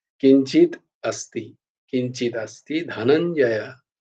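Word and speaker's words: धनञ्जय: তো কিন্তু উচ্চারণটা কিঞ্চিত अस्ति, কিঞ্চিত अस्ति ধনঞ্জয়, ধনঞ্জয় নয় কিন্তু, ধনঞ্জয়। ধয়ের উচ্চারণটা ধ হবে না, ধ হবে, ধ, ধনঞ্জয়।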